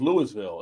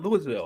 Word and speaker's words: Louisville: like Rox sand I'm saying shant he says Louisville like no it's not Louisville it's not it's like it's not Louisville pronoun he pronounces ITV the greatest Muhammad Ali from the